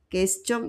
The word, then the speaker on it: question: Question is not question. Question is English. En français, c'est question.